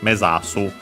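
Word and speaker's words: 目指す: own and also this mesasu. Also notice again the voicing of sasu, uh, in mesasu, because it becomes the second word the part of the compound, and even more so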